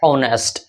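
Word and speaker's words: honest: तो इसमें पहला एडजेक्टिव क्या है, ईमानदार, जिसका स्पेलिंग होता है ऑनेस्ट। ऑनेस्ट यहाँ पे ये एच से शुरू होता है लेकिन यहाँ पे एच साइलेंट होता है, इसका प्रोनाउंसिएशन औ से शुरू होता है।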